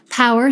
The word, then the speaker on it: PWR: Power, spelled P-W-R, can mean power, as it's pronounced, while also meaning personal wellness realized.